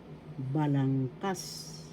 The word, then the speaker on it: balangkas: Tagalog, balangkas. Balangkas, first syllable ba, second syllable lang, third syllable kas.